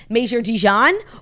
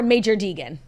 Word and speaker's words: Major Deegan: Deegan, but Major Deegan, would you have said Major Dijon or Major Deegan? I think I would have said Major Deegan because I would have been in hard G mode. Yeah. But I saw that soft J, and I hit him with a soft G.